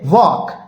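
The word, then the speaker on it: walk: डब्लू ए एल के इसे हम पढ़ेंगे वॉक इसे हम ल्क नहीं पढ़ेंगे एल हमारा साइलेंट होता है तो ये हो जाएगा वॉक वॉक का मतलब होता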